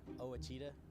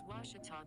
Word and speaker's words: Ouachita: taylor king law uh i've heard people say oh a cheetah oh wichita oh a cheetah is it pronounced oh akita searching for washi at a baptist university back